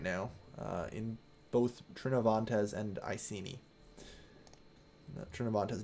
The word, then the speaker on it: Iceni: I don't know who Iceni was training, or Iceni or whoever they were. Iceni, I believe it's actually pronounced as people on the stream that I'm doing right now have been correcting me.